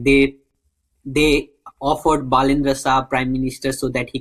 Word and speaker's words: Balendra Shah: The critique of Balendra Shah, did I say his name right? Balendra Shah, yeah.